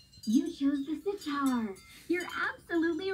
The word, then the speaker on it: sitar: looks like a guitar it sure rhymes with guitar doesn't it but it's most similar